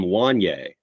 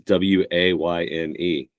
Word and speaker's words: Wayne: You mispronounced his last name, and his first name is Wayne, spelled Wayne. And for the first few years of knowing Wayne, I called him Wanye because just Kanye.